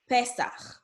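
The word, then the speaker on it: פסח: When you see the letter E, it's going to be pronounced E, like Pesach, okay, which is Passover in Hebrew.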